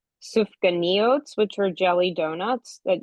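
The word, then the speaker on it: סופגניות: They had um and I have to pronounce it correctly, sufka neot, which are jelly donuts that you see still today a lot of times associated with um with Hanukkah.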